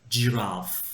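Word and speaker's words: giraffe: Zürafa tabii ki de yazılışı biraz böyle raffe gibi yazılsa da okunuşu cirf. Okey cıf.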